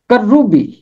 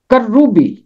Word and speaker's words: کروبی: 17 بار آیا ہے۔ کروبی، کروبی، کاف کے اوپر زبر ہے، رے کے اوپر تشدید ہے، اور اوپر ہے پیش۔ کروبی، کروبی، کروبی کا مطلب ہے فرشتہ۔ کروبی حقیقت میں عبرانی زبان